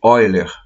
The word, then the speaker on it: Euler: valor do número de Oiler, que Oiler se escreve Euler.